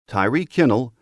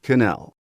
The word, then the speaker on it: Tyreek Kel: his head coach, to start pronouncing his name right, Tyreek Kel, not Canel.